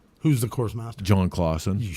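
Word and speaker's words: Claussen: It is Clausen Pickles. It's just spelled with a U. You shut your mouth. Clausen.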